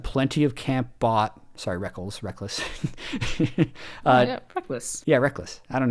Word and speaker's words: Rekkles: your name then dude why do you got to change the pronunciation on us anyway seven years later is still in the back of my head I say rekkles when his name is reckless but Brock's is played